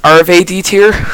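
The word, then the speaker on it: Arfeudutyr: So apparently it's pronounced Arve D tier.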